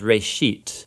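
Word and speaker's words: בראשית: of it's called Genesis Genesis comes from a Hebrew word uh it's pronounced Ray sheet and it just means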